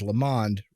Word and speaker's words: Lamond: And we even said your last name right, because Lamond rhymes with the pond.